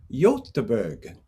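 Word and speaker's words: Göteborg: theater company so bill i think it's pronounced yotteeberg with the berg aaron's on in in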